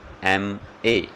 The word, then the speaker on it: MA: जैसे देखिए आप, ही इज़ एन एम ए। यहाँ देखिए आप, किससे शुरू हुआ है, ये कॉन्सोनेंट एम से शुरू हुआ है, लेकिन साउंड आप देखिए एम, अ की साउंड आ रही है, वोवल साउंड है, तो हम किसका यूज़ करेंगे, एन।